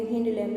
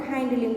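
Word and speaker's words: hind limb: ये उनके आपको फोर लैम्ब है और ये हिंड लैम्ब है। फोर लैम्ब मतलब आगे के 2 हाथ, और जो ये है वो है हिंड लिम्ब, और हाइंड लिम्ब भी बोल सकते हो आपको जो प्रोनाउंस करना हो।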